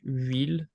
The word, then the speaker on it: huile: Is it because the H is silent? Yeah. So that's something that you have to keep in mind, is that in French the H is completely silent. It doesn't make any sound whatsoever. So it's the real first